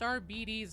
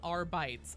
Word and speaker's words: Arbites: And yes, it is pronounced RBI, not RBES.